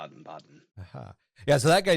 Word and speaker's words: Baden: Sorry, they don't because they don't have a so much. Like it's more like okay. It's not like it's the soft sound instead. Yeah, like cat in German is Ketze. It's almost like an AE. Like they don't have A by itself. It's either AE or AO kind of like pronunciations.